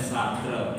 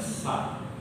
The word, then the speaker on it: Sartre: Kenapa Sartre, ya, kita bacanya Sartre, yang benar bacanya Sartre, ya, mengatakan bahwa eksistensialisme manusia itu bahwa manusia itu adalah makhluk yang bebas.